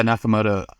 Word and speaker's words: Nakamoto: Like, so let's talk about um Satoshi Nakamoto and uh is is that how you say it? Nakamoto. Yeah, Nakamoto.